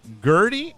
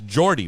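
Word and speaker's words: Geordie: johnson of the band gertie or jerry i think it's jordy it's jordy right yeah jordy gets a new slightly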